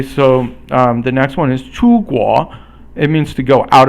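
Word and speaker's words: 出国: Okay, so the next one is 出国. It means to go out of your country. So 出 is the first tone or flat tone, and then 国 is the rising tone.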